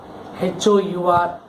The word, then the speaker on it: hour: One more word you can say R, the first R, Hour. You don't say R, you say it as R. Okay, do we say R? No. Here the H is silent.